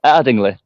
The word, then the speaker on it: Ardingly: It's Ardingly.